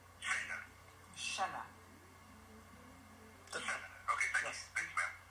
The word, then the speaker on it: Shenna: I don't want to mispronounce it. Is it Shenna? Sorry, Shenna? That's correct. Shenna.